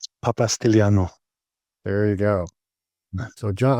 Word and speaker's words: Papastylianou: Um, so John, uh, John, help me off the with pronouncing your last name correctly. Papastiano.